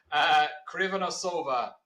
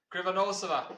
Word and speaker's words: Krivonossova: Krivonossova. Did I say it right? No, I didn't. Did No. I not? No. Did you say it, please? Krivonossova.